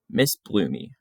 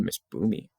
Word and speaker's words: Miss Bloomy: Miss Bloomy. Oh, I was saying it wrong. Miss Bloomy. I said Miss Boomy.